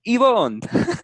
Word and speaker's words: Yvonne: So I would be like, "So is it Yvonne or is it Yvonne?" Mm. It's Yvonne. So I would just go